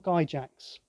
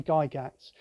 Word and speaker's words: Gygax: uh e gary gygax is it gala gaps or guy jacks i always used to say guy jacks i think it's because i'm british and we favor the soft g but it's probably guy gats we know all of